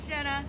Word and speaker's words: Jenna: making you hi i'm jenna jenna oh my god i knew a girl in high school named jenna it's funny because your name rhymes with splenda because you're sweet your